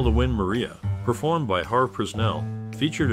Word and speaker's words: Maria: they call the win Maria performed by har prell featured a train vocalist the pronunciation of Maria in the song is distinct sounding like Mariah the nitty-gritty Dirt Band